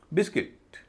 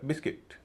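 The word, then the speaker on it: biscuit: बिस्किट बी आई एस सी यू आई टी। इसमें भी you silent है। इसीलिए इसे कहा जाएगा बिस्किट। कुछ लोग हालांकि इसे बिस्कुट कहते हैं शायद यू को देखकर।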